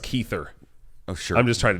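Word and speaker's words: Kiefer: first ad was for kefir Southerland uhhuh yep that was nuts yep he was like what are you new and I was like uhhuh yeah I think it's pronounced keither oh sure I'm just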